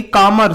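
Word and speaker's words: calm: One saleable है ना काम काम कामरमेस्ट एल साइलेंट होता है इसमें इसकी तो अपनी डिग्रियां है मोर लगाने की जरूरत नहीं है।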